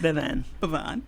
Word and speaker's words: Bevan: Well, you added a spin to it. Oh, okay. A spin. Oh, it's just Bevan.